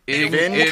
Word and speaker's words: Ingenito: And then Ingenito is Ingenito.